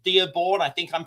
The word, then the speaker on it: Dearborn: I'm talking about a town called Dearbornne. I think I'm pronouncing that right.